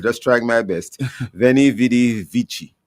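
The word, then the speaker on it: vici: Venidi Vichi. It's same one. Yes. I came, I saw, I conquered. I think the C in vichi is pronounced as if it were ch.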